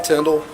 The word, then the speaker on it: Tindell: Sure, my name is Tyndall, uh, commissioner of the Mississippi Department of Public Safety. It's spelled, uh, last name Tyndall, T I N D E L L.